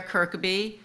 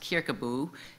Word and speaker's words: Kirkeby: to me our pair Kirkeby who is on your left and Frank Auerbach was on your right um the care could be painting and I guess in Danish it's pronounced kirika boo that painting is actually